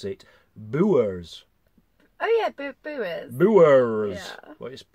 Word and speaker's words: Bures: I've just looked it up and they actually pronounce it boo errs oh yeah boo boo errors it's spelt yours